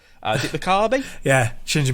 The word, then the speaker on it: Mikami: say the name because I always get the name wrong. Is it Mikami? Yeah, Shinji Mikami.